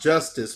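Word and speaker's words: Justus: the story uh that his name is pronounced it's it's spelled it's spelled you know pronounced justice but it's spelled just us j-u-s-g-u-n-u-s j-u-s-t-u-s and so as his mother um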